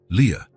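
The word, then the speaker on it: Lia: "This is your name," he explained, pointing at each letter as he pronounced them, L I A. "Leah."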